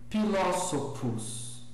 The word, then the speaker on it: philosophus: Pois bem, os grupos CH, PH e TH são pronunciados como K, P e T, só que com uma aspiração leve, tá? Então, Pulcher Amphitheatrum Philosophus, Pulcher Amphitheatrum Philosophus, tá? Então, assim, então cuidado, na pronúncia restaurada o PH não soa como F, tá certo?